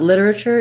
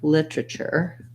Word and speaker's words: literature: literature and literally literature thing about literature is that we either will say it as litter uh or literature literature um so if we do use the flap it's it's similar to how we do literally which is litter uh lee um so we can do literally and literature or we can also do literature with three syllables um then we use